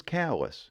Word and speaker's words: Calais: correctly over there on the Eastern side is callus however in France that's Calais or in the central